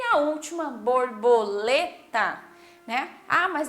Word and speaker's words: borboleta: Ah, mas é o tá no final, mas eu não falo borboleta, certo? Eu falo borboleta. Então, quando eu falo lê, eu falo, né, até um pouquinho mais alto e aí eu volto para a sílaba tá. Então, borboleta.